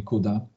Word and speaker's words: CUDA: Windowsie zalecałbym wybierać właśnie Kuda albo cuda zależy jak Jak wymawiamy Natomiast w przypadku macosa